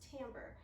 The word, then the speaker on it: timbre: is the word timbre it's spelled like it should be pronounced timber but it is timbre and another you can